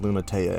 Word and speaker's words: Lunatea: yes it is actually pronounced lunatea and if you don't believe me there you